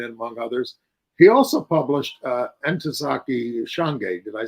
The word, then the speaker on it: Ntozake Shange: He also published Ntozake Shange.